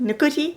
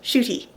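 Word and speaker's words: Ncuti: His name is not pronounced Nakuti, it's pronounced Shooty.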